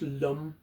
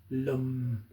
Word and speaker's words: Lam: It's pronounced lum. It looks like lamb to us the way it's been transliterated into English, but it's actually pronounced lum.